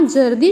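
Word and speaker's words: ज़र्दी: बच्चों क्या आपने यहाँ जर्दी शब्द पर ध्यान दिया? इसमें जा के नीचे बिंदी अर्थात नुक्ता लगा है। नुक्ता लगने से वर्णों के उच्चारण में बदलाव आ जाता है।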